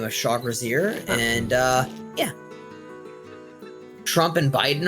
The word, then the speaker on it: Trugzar: Well, his name is Shag, but, the way that we pronounce his, full name is, Trugzar, like, basically Trugzar. Trugzar.